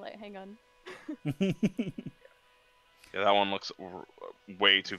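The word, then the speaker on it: を: use the wo here it's not whoa it's o the reason why they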